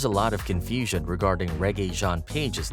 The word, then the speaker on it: Regé-Jean: how to pronounce it the first part is like the music genre reggae then Jean like Wyclef Jean and then Paige alright next up for